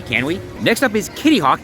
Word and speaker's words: Kitty Hawk: we next up is Kittyhawk yes it is Kitty Hawk not kitty kwk don't know why I'm